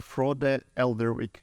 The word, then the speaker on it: Frode Eldevik: You are Frode Eldevik. Am I pronouncing it right? Yeah. Frode, like from the Lord of the Rings. Also, almost.